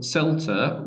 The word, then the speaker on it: CELTA: So CELTA with a soft C is the Certificate of English Language Teaching to Adults.